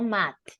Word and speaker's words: math: be careful here is math remember the pronunciation of th right can be mad or math but no math is not t at the end if you remember we